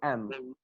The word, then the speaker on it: them: th, or let's say we do not pronounce the sound the in them. The will not be sounded, we Yes. say m.